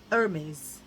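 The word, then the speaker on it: Hermès: right, girls, all the girls who corrected me, Hermes. I know, you're like, she picks up quick. I do. Right, so because it's this orangey colour, I think it's like very Hermes.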